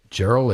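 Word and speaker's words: Jeriel: about this guy named Gerald Edwards yes I think that's the way you pronounce it je r IE L Edwards this is a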